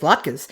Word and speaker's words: latkes: Yeah, also, he pronounces latkes correctly. He says it like a normal human being. I hope she makes latkes.